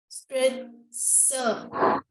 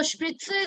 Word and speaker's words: Spritze: Don't consider Z here. Call it S. Spritzer. Very good. Spritzer. So spritzer is basically injection.